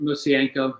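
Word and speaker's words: Mosienko: Bill, how do you pronounce it? Messienko? It's probably as close as you get. Musienko.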